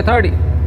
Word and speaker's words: thirty: हम 13 को बोलेंगे 13 और 30 को बोलेंगे 30 30 यानी डी की आवाज आएगी 30।